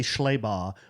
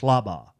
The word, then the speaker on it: Schlabau: I always say Schlebau, but I think she said it's pronounced Schlabau. Schlabau.